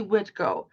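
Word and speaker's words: Witkó: uh widco to conti witco is how you would say crazy horse in lakota um we do not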